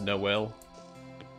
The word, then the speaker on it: Noel: So the JKMN joke is because there's no L, that's why it's pronounced Noel.